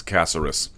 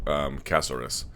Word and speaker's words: Caceres: The main event, Yair Rodriguez in a featherweight contest taking on Alex Caceres. And everyone says Caceres, but I'm told it's pronounced much more closely to Casarez.